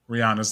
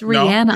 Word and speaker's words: Rihanna: rihanna it's it is rihanna yes it is yes she says it herself that's you know we we pronounce it rihanna i did not know for the longest time she had an accent yeah i mean and